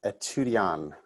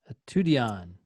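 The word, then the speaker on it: étudiant: that i needed to stop pronouncing the t at the end of french word i'm going to pronounce it as etudian a tudion a tudion maybe because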